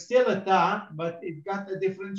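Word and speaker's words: ت: You see exactly the same, but it's got two dots on the top. So this is a ta.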